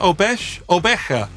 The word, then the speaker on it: obeche: I did look up how to pronounce that. 𝗏𝗏𝗪.